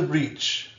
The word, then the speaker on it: breach: Into the breach, into the breach, into the breach. Make sure that you hear the ch sound.